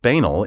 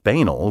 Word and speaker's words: banal: is no zoo in zoology i wrote that banel is a word of many pronunciations each of which has its outspoken and intractable proponents when i published that book in 1988 the pronunciation banal was the one preferred by the overwhelming number